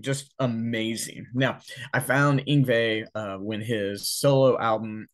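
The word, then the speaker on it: Yngwie: and number five is inve malmstein inve is spelled y n gwi IE he is a Swedish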